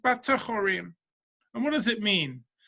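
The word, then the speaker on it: בטחורים: It's written be'afolim, but it's pronounced batechorim.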